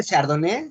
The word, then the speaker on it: Chardonnay: Creo que es Chardonnay. Bueno, no, yo no pronuncio bien, pero Sí, se pronuncia Chardonnay, sí, correctamente, Chardonnay, pero no es parte de la mesa bordalesa.